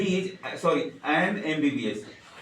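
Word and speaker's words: MBBS: बार फिर से एमबीबीएस म ब बस नहीं बोलते हैं क्या बोलते हैं एम बी बी एस और एम क्या चीज से शुरू होता है ए से और ये क्या है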